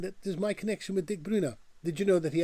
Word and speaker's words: Dick Bruna: Hi, I'm Paul and I pronounce Dutch words and names the way a Dutchman would pronounce them. The name of the author and illustrator of the Miffy books is Dick Bruna.